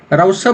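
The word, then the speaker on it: Rousseau: Okay, तो जैसे idealism के फादर प्लेटो हैं, वैसे ही नेचुरलिज्म के फादर जो हैं रोजे, ठीक है, रोजे, इनका पूरा नाम है जीन्स जैक्स रोजे। रोसा भी बोला जाता है इनको, रोजी भी बोला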